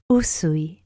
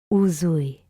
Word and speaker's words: Usui: So just remember Usui, not Uzui. So, a fun fact for anime lovers, I know there's a character that I really like that has the name Uzui, Tengen Uzui, in Demon Slayer, or in Japanese it's Kimetsu no Yaiba. So the name Uzui exists, but it has nothing to do with Reiki.